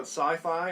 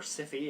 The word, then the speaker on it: Syfy: will be shown on sci-fi or sippy if you want to say it the way it's spelt in the US but it'll be on